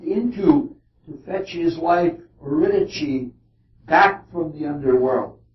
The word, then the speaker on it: Eurydice: This is the same dark underworld that Orpheus went into to fetch his wife Eurydice back from the underworld. That's an Italian pronunciation, but the only one